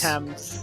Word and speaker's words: Thames: How do you pronounce this made-up river again? Thames? Thames. The Thames.